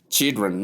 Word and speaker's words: children: So look at the ch sound here. Let's look at this sound with sh combined gives us ch in the pronunciation. And then we have the short e sound here. As you can see e sound. You have ch. Then last sound is pronounced chill.